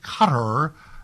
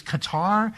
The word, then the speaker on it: Qatar: Canada is having its way with Cutter. I Remember it was Qatar and then everybody said you had to change that. Can we keep the pronunciations of something for 3 weeks, please?